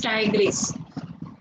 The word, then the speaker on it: Tigris: Pronunciation is Tigris.